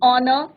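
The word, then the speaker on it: honour: An honest man, एन ऑनर, एन आ. तो यहाँ पे क्या है बच्चों? एच साइलेंट है और हमारा यहाँ पे किसका प्रोनाउंसिएशन हो रहा है?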